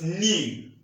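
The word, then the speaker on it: ν: viscosity and we use the symbol base pronounced new is a Greek letter anyway that's not what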